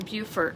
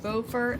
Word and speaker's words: Beaufort: you get yelled at they let you know that beaufort and bufor are spelled the same but they are not pronounced the same so we learned that